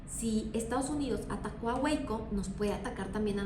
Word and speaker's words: Waco: Se escribe Waco, pero se dice Wiko en 1993, que pues es otra Z también que se radicalizó, pero ellos tenían armas.